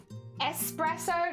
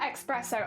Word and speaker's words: espresso: I was child child espresso not expresso oh okay I say